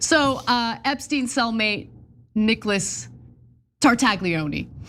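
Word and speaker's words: Tartaglione: By the way, we need to pronounce the um Italian gentleman's name correctly. Okay, it's Tartaglei.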